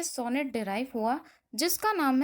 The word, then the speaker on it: sonetto: एक Italian word से ये सोनेट डिराइव हुआ जिसका नाम है सोनेटो. स्पेलिंग को बहुत ध्यान से देखिएगा, SONETTO. ठीक है, इटालियन वर्ड में इसको सोनेटो बोलते हैं, इसी से सोनेट डिराइव हुआ है.